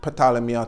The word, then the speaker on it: Ptolemy: me some people say potala me because it's actually spelled with a pea but in English you don't really pronounce the P but potala Mia told me you know